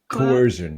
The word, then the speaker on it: coercion: Is that the right pronunciation, Dan? Coercion.